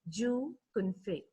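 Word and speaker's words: Zhou Qunfei: q u n f e i it is pronounced as jew confe so we'll just go into the lesson meet joe confey the world's richest self-made woman she is the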